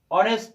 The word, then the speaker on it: honest: o, এখানে আছে হচ্ছে honest অর্থাৎ এইচ, কিন্তু এইচ এর উচ্চারণ আমরা করছি না, আমরা করছি ও এর উচ্চারণ।